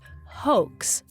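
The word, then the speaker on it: HOECS: online entrapment control system h o e CS pronounced hoax for short so it's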